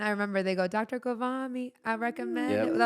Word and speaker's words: Ghavami: mispronounces my name. I think he thinks I'm Arabic Really? because How he does goes he- Wavami. So he says it as if I'm Arabic.